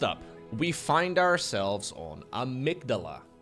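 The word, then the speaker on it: Amygdala: we find ourselves on a migdala or as some casters apparently call it Amy gadala welcome to Amy gadala apparently this is the only map in the current mapo that we could possibly be mispronouncing okay the other maps are too easy so Amy gadala is everybody knows Starcraft casters are terrible at pronouncing map names yeah Amy first name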